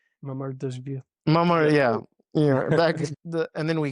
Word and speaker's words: Mamardashvili: And then we got another goalkeeper, Mavardeshi, I think I'm pronouncing it right. Mamardashvili.